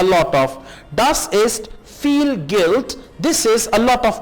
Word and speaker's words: Geld: Das ist Geld। This is money। Geld कहेंगे money को और D को आप T प्रोनाउंस करेंगे।